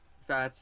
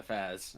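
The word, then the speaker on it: FAZZ: are the same suit fats is how it's technically pronounced in japanese so what's the full armor double zeta referred to as the f a double d the fast yeah the faz i i was going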